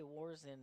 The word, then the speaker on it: Warzin: from madison area co-op i finally asked how to say warzin and that's how you say it you've been doing it